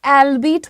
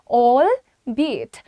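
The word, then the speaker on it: albeit: सो अलबीट बोलते हैं बहुत सारे लोग इसे। अलबेट अलबीट ऑल दैट इज़ इनकरेक्ट। मतलब क्या है? बावजूद, हालांकि etcetera and pronunciation is ऑल बीट। ऑल बीट बी इट बी इट। Right? So you have to से इट with me ऑल बी इट।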